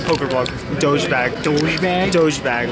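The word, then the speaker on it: Dogebag: Dojebag, like the meme, but douchebag.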